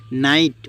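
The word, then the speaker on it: knight: Rules 1, শব্দের শুরুতে কে এন থাকলে তার উচ্চারণ হবে দন্ত্যান্ন, এক্ষেত্রে কে অনুচ্চারিত থাকবে।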